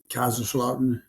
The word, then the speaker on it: Kaiserslautern: and what city was that eyes are slaughtered Kaiser's law turn Germany so that's Kaiserslautern yes but because Southern folks yes for you